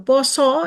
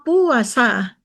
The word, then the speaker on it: Pasa: Aksara Jawa PASA ternyata atau poso ya, ternyata di koran itu ditulis puasa dan Dirtipidum Bareskrim secara fatal membacanya pula puasa.